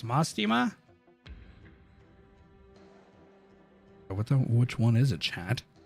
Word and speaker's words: Mostima: Hey, guys, you can't keep saying moist. It's Mostima.